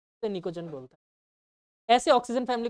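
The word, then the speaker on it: pnictogen: है क बोलते हैं निकटो नहीं बोलते उसे निकोजन बोलते साइलेंट होता है वैसे निकोजन बोलते हैं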